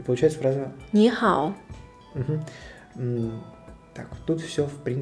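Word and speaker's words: 你好: Допустим, самая первая фраза, которая читается, это нихао. Да? В данном случае два иероглифа, оба третьим тоном. И ты, и хороший. Да? Ни и хао. Да, но ни будет произноситься вторым. Ни. И получается фраза... Ни хао.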